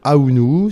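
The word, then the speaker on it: Ahounou: Bonsoir, en fait mon véritable nom c'est Aounou, c'est d'origine africaine, ouest-africaine. Donc Aounou ça s'écrit A-H-O-U-N-O-U.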